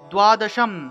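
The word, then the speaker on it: দ্বাদশম্: এখানে ম উচ্চারিত হবে, দ্বাদশম দয়ের নিচে বফলা থাকায় দুও উচ্চারণ, তাহলে দ্বাদশম অনুস্বার থাকায় ম, দ্বাদশম তু গজাননম, গজাননম।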